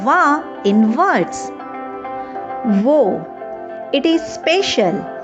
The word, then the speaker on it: を: Even though we write it as wo, we usually pronounce it simply as o.